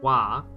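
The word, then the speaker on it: は: I know that's the ha character, but it's wa.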